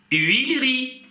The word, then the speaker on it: huilerie: На самом деле, вот это «э», которое находится в корне этого слова, не читается. Есть правило, соответственно, выпадения. Она у нас получается «uri». Мы ее, гипотетически, конечно, мы ее можем прочитать. Нет, не можем. Потому что она здесь между двух согласных. Правило выпадения.